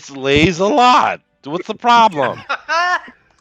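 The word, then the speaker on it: Lieselotte: l o TT e it's the French pronunciation of it slays a lot what's the problem sound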